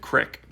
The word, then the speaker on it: creek: Kids from the small town would pronounce it crick.